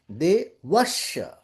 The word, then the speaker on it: devasya: So you will have to say devasya. There will be emphasis on va, because after Okay. it is followed by two combined sounds.